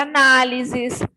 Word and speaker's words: análises: a palavra analysis analysis Qual foi a palavra a sílaba que eu falei com mais entonação que eu falei com mais força então foi a sílaba na e nós sabemos que